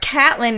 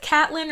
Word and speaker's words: Catelyn: So is it Catelyn or is it Caitlyn? Because it's spelled C-A-T-E. It's Catelyn. L-Y-N. That's what they say in the show.